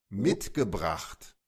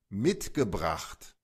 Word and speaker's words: mitgebracht: Mitgebracht. Mitgebracht. Pueden escuchar que la CH en este caso suena casi como una G. Vean, esa CHT como una G. Eh, como GT, GT.